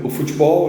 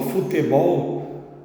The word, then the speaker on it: futebol: unidade racial tá no futebol né ou como os paulistas falam futebol tá a gente aqui no Rio e fala mais futebol no som de i mesmo na segunda sílaba né e e a